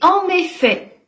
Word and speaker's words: en effet: pas disponible demain et en effet le t à la fin ne se prononce pas on l'utilise lui pour